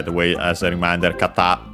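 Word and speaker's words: 方: And by the way, as a reminder, kata, accent on, by the way, on the last syllable, becomes also an honorific for person instead of the usual hito, unaccented.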